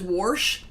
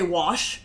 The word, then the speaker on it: wash: the life of her couldn't say wash oh my says warsh but it feels forced and then the other day I caught him say wash and I was like you can say it correctly you're choosing not to worse to sure yeah